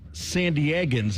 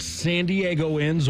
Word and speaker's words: San Diegans: See, it's San Diegans. It's not San Diegoans or San Diegites or anything.